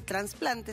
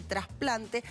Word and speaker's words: trasplante: el de trasplante y trasplante no se dice trasplante se dice trasplante en general por asimilación uno cree que las palabras que empiezan con trans todas llevan en el trasplante no y después está que